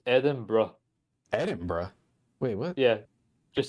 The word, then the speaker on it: Edinburgh: Just say Eden and just add bro at the end of it.